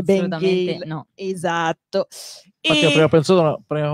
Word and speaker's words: Bang Ale: si chiama Ben Gale, che non si legge Bangale, ma si legge Ben Gale.